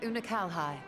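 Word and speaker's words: Unukalhai: of that world a useless void you remember una calhi the unusual child that's how you say his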